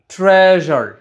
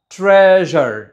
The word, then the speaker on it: treasure: ওকে, fourth one হচ্ছে TREASURE, এটা কিন্তু ট্রেজার হবে না, আগেরগুলোর মতোই ট্রেজার, ট্রেজার, জ সাউন্ড, জ সাউন্ড, জ। ওকে, সো নট ট্রেজার, ট্রেজার, ট্রেজার।